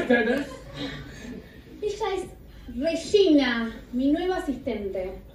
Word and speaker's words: Regina: Ella es Regina, mi nueva asistente. Se pronuncia Rechaña. Ahí usted se llamó mi madre, Vallaina. Hola. ¡Hola! Germayo, Rechaña.